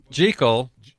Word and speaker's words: Jekyll: Hyde Michael there's a tie-in there I don't think Tiger knows that story well gee Cole right is the way gertrude pronounces her last name and her brother was a friend of Robert Louis Stevenson who wrote who wrote dr.